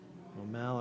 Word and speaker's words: Maumelle: Maumelle, okay.